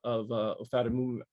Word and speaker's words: ofatumumab: her 2 doses of ofatumumab. I call it OFAT because I can't pronounce it. Ofatumumab, I think is how you're supposed to say it.